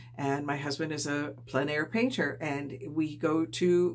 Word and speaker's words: plein air: And if you're not sure what plein air is, plein air means, it's spelled P-L-E-I-N because it's a French, and I believe it's actually pronounced plein air.